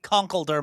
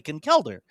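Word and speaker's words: Conkeldurr: but I used to always call it conquer myself until I heard that the uh I've heard anime and official sources say concelder. So I'm like oh that's how the brand wants it pronounced.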